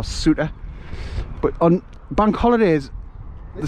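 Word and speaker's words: Souter: do you see it it's spelled s-o-u-t-e-r salter or suta but on bank holidays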